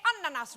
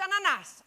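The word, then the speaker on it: ανανάς: You also say ananas wrong. It's ananas, okay?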